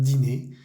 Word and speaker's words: dîner: Siempre tiene ese acento circunflejo sobre la I, pero no cambia nada la pronunciación. Un dîner chez les Dupont.